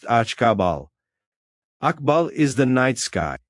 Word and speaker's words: Akbal: The third harmony color is black and its glyph is Akbal, pronounced akabal.